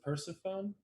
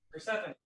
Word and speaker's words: Persephone: Is it Persephone? Persephone. Persephone. Persephone. Well, I'm reading my paper. It's spelled Persephone. Sorry. That's how I thought it was until I heard it pronounced.